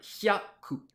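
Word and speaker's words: 百: même vous m sans yacou prononcé bien yakou en deux syllabes tia emile seine seine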